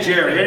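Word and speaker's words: Gerry: Uh, Jerry Cunningham, how do you pronounce that with the backpacks and tent equipment? Gary or Jerry? I say Jerry.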